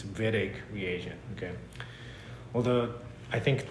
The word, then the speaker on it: Wittig: people mispronounce this like weird egg reagent this is a German name so the W is pronounced as a v you can complain to